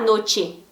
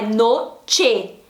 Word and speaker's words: noche: Então se eu escrevo noche, eu não vou falar noche, noche com som de I no lugar do E, não, é noche.